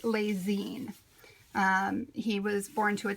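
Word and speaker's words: Lessines: He was born in 1898 in a small town in Belgium, pronounced Les Zines.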